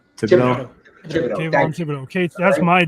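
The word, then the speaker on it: Thibodeaux: How do you pronounce his name? Theoro or whatever. Thibodeau. Thibodeau.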